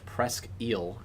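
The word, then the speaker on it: Presque Isle: a severe thous warning for Presel County in northern Michigan. That's how you say it.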